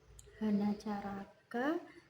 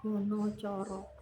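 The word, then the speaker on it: Hanacaraka: Hana caraka data sawala. Tapi biasanya kalau yang bahasa Jawa biasanya pakai honour corok gitu ya. Cara membacanya seperti itu.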